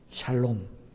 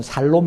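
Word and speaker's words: שלום: 우리는 안녕하세요 하지만 그들은 샬롬 이렇게 표현합니다 발음을 잘 하셔야 됩니다 이걸 잘못 하면 우리나라 사람들이 발음할 때 잘하셔야 되요 이게 잘못은 살롬 이 되고 죽을 놈이 적어 이렇게 됩니다 저는 이런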